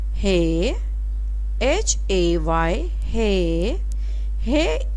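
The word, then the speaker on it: ہ: Hey, HAY, hey.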